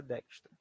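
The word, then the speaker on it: Dijkstra: a gente apresenta então ele se escreve assim né digra se fala dextra eh então sempre pros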